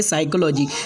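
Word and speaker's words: psychology: उसके बाद में 14वां रूल है, जब पी के बाद एन एस टी आ जाए तो पी साइलेंट होगा, यानी पी के बाद में एन या एस या टी आए तो पी जो है तो साइलेंट हो जाएगा। जैसे कि पहला वर्ड है निमोनिया, दूसरा वर्ड है साइकोलॉजी, यहाँ पर पी को नहीं पढ़ा जाएगा।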